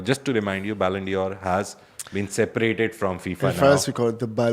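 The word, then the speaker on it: Ballon d'Or: In France, we call it the Balandor. Balandio. Say it again. Balendio. Baland. Balandia. It's like it's like Christian Dior. You say it like Christian.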